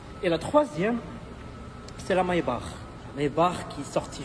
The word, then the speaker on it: Maybach: Et la Maybach, c'était Maybach, on dit Maybach en allemand.